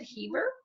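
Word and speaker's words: Hiver: It is by Madame Chantilly, and it is called, I think, pronounce it Heaver, which is winter.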